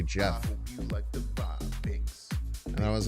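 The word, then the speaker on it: Geoff: I used to think that uh cuz I never heard like Goff G or G E O FF pronounced.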